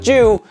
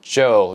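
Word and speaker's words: Chu: comparison to Moon drop Joe is what I've been told it's supposed to be pronounced not Jew but Joe this IEM is really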